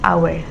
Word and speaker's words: hour: For example, an hour. Like an hour, the letter H is not pronounced. It sounds like hour, which is a vowel, so use an.